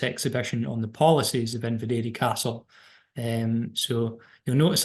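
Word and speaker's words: Inveraray: saying inad for so long but and the pronunciation that's most closest to the GAC um is in Vera so I need to keep reminding myself to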